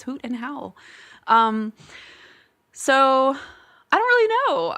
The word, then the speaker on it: Hoot and Howl: And then they'll say Hoot and Holler, Hoot and Hollow. No, it's Hoot and Howl.